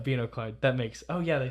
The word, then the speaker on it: binoclard: Maybe it's binoclard. I don't know. I didn't look up the pronunciation. Well, they say binoclard. Okay, yeah, binoclard.